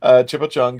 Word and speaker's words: Chipo Chung: It is Chan Chipo Chung Tho, if you pronounce it right, but it's actually Chipo Chung.